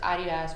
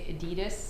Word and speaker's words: adidas: just say something uh everybody in device has adidas but americans say adidas yeah it's a german brand though and it's